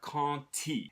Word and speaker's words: quand: you have the word quand, which ends with a D, but when it's followed by a word that starts with I, it won't be pronounced as a D, it'll be pronounced as a T.